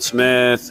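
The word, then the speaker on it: Smythe: the last name is the second part of that is spelled S M Y T H E. I guess like Smith, but it's Von Smith.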